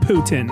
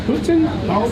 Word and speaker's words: poutine: Is it Putin? That's how you pronounce it. Putin?